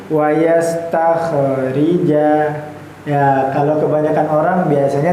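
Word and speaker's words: واستخرجا: Kita lanjut wasastakhrija ya. Nah, kemudian di sini yang menarikja khnya su sukun ya sukun itu ya kayak setengah lingkaran itu. Tetapi jangan sampai kita membacanya terpantul. Wastakhrija ya.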